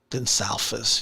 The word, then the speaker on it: Gonçalves: Gonçalves, yeah. Yeah. It's Portuguese, is it? Wow. And it wasn't Spanish. It's pronounced Portuguese, huh?